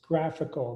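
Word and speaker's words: GraphiQL: i was wondering okay what manish said pronounced graphical the graphql client i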